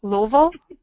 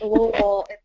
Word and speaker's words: Louisville: Louisville? Did I get the pronunciation closer this time?